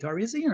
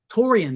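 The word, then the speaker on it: Taurean: How do you say it? Taurasian or what? Tarzan? Taurian. There you go.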